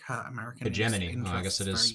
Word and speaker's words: hegemony: that the Japanese would fall prey to next, and that would like hurt American Hegemony. interests. I guess it is pronounced hegemony significantly.